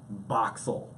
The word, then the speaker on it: Boxel: And then someone said Boxel. And I was like, that's so much easier. you've reduced four syllables because I have to say each letter to two syllables.